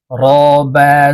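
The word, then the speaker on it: رَبَّا: শিখবো তাসতিদওয়ালা হরফের উচ্চারণ তাশতিদওয়ালা হরফ দুইবার উচ্চারণ হবে একবার পূর্বের হরকতের সঙ্গে আরেকবার নিজ হরকতের উচ্চারণ হবে ঠিক আছে দেখো র বাবা জবর রব র বাবা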